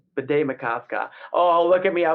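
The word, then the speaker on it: Bde Maka Ska: Bidet Masca.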